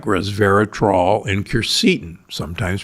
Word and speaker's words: quercetin: How about polyphenols like resveratrol and quercetin, sometimes pronounced quercetin?